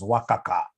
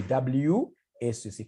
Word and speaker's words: WACC: There is somebody who pronounced this as wakaka. Wakaka, no. It's supposed to be WACC.